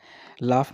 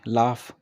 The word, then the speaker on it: laugh: ही means वह, लाफ means क्या होता है, LAUGH, लाफ, है ना। इसकी प्रोनाउंसिएशन क्या होगी, लाफ, क्या होगी, लाफ।